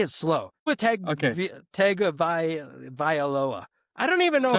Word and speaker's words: Tagovailoa: If I could say it, I have always been under the impression that it's pronounced Tungaviola, which there's like an N sound in there that I think a